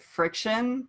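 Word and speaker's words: FriXion: Another thing, I think you're supposed to pronounce it friction, but they use an X, which is stupid.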